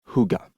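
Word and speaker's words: hygge: De fait, ils venaient de redécorer leurs trois pièces en version Huga, prononcé Huga à la danoise.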